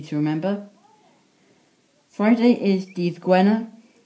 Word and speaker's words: Gwener: Friday is D-Z Gwener, spelt G-W-E-N-E-R. Saturday is dydd Sadwrn, spelled S-A-D-W-R-N. Sunday is spelled S-U-L, or until this seal, dydd Sul.